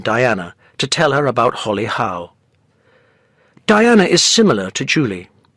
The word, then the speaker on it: Holly Howe: you like to come with me says Julie Holly Howe yes that's right Diana is silent Diana says Julie what's the matter uh